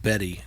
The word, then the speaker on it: Bette: I think it's pronounced Betty, Yeah.